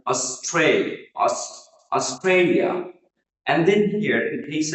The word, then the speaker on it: Australia: So এখানে pronunciation number one, আমরা এই দেশটিকে সাধারণত অস্ট্রেলিয়া বলে থাকি, but here Australia, here the middle syllable, the second syllable is stress, and it will be pronounced like Australia.